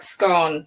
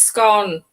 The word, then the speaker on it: scone: They pronounce words wrong, like scone. It's scone, not scone. It's scone.